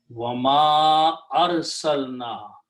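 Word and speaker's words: وَمَا أَرْسَلْنَا: And because of this alif with a hamza, previous alif has to be pronounced with a mad. Wama arsalna, and we did not send.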